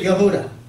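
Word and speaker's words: יהודה: The Father's name is Yod-Heh-Wah-Heh, and Judah is Yod-Heh-Dalet-Wah-Heh, and they pronounce it Yehuda.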